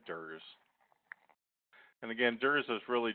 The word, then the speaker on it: DERS: So these smart pump features collectively are known as the dose error reduction software, the dose error reduction system, and we often pronounce that DERS.